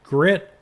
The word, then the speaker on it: Gryt: This particular application is called Grit and it's spelled g r y t and it is very